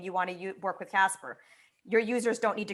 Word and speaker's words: CSPR: be the first time that how do you pronounce it? Is it the CSPR? CSPR, Casper token.